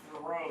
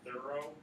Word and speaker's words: Thoreau: Thoreau is the accepted pronunciation of it. I think it's his aunt has like in a family album kind of thing where the pronunciation would be closer to saying thorough.